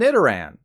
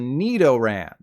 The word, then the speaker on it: Nidoran: higher because this Pokemon is called Nidoran as in knee this extends to the